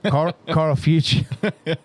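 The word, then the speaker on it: Karl Fuchs: Oh, Carl Fuchs.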